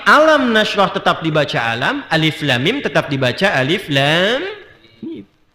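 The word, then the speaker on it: الم: Alif lam mim sampai sekarang masih alif lam mim tidak pernah dibaca alam ya kan.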